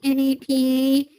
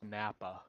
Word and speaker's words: NAPA: Uh reminds me of the time you were on the NAPA and the dude was silly like she like I'm going to go out. It's pronounced Nappa.